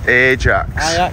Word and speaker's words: Ajax: we Ajax football stadium Ajax it's pronounced Ajax is a the spicy